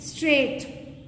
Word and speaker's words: straight: Straight.